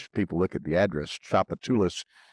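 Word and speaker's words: Tchoupitoulas: Chapatulus, that's how that word is pronounced. People look at the address, Chapatulus.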